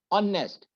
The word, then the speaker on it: honest: Honest, H is not a vowel, it is a consonant. But H here is silent. O is has been pronounced here.